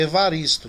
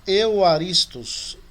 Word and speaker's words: Evaristo: O meu nome, o meu sobrenome também, ela é com V, Evaristo, né? Nós temos que usar o Y no lugar dele. Que aí a pronúncia fica Euaristos. Depois eu vou ajudar vocês nisso aí. Que a gente não tem um equivalente real ao V.